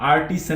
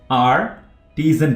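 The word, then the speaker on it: artisan: आर्टिजन, आर्टिजन, इसको आप आर्टिसन नहीं पढ़ेंगे, आर्टिजन पढ़ेंगे।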